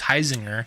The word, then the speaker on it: Heisinger: No, and I had always assumed it was Heisinger. Well done. And I was right.